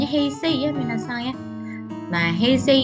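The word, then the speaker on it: 平成: Nah, ini dibacanya heisei ya minasan ya.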